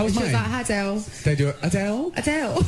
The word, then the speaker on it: Adele: We've been stuffing around this morning a lot with the pronunciation of Adele. We say Adele. Adele says Adele, and she would know it's her name.